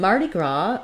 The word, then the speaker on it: Mardi Gras: In Mardi Gras, we have the main stress on the gras syllable, and this comes from the French, and then, of course,